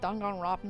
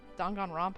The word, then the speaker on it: Danganronpa: kind of the reason I didn't really like dangan Robin either Danganronpa I keep saying it wrong I don't like